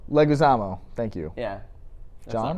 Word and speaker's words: Leguizamo: No, not Louis Guamo. Leguizamo.